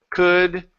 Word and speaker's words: could: And it works the same way with should, could, and would. All of them, in all three of these words, the L is silent. We don't pronounce that.